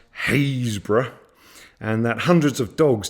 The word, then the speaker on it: Happisburgh: chrome or I discovered Happisburgh which is pronounced haze bruh and that hundreds of